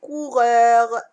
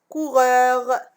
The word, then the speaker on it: coureurs: Des coureurs. Des. Donc, des. Quelle est la lettre muette que je ne prononce pas? C'est ES. Coureur. Coureur. Donc, la lettre muette que je ne prononce pas ici, c'est S.